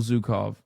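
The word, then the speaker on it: Zhukov: Historically speaking, this is Zukov, not Zuko.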